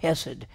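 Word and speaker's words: hesed: word in hebrew called hessed it's h-e-s-e-d in hebrew it's pronounced yes it has this rough guttural mark acid we we don't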